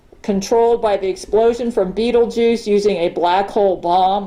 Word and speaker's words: Betelgeuse: Yeah, because that's how it's spelled in the movie, but it's Betelgeuse. Betelgeuse. Or goose. Going around in a circle like this. So, But yeah, she's pronounced it Beetlejuice.